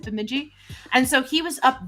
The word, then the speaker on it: Bemidji: That's how you pronounce it, Bemidji.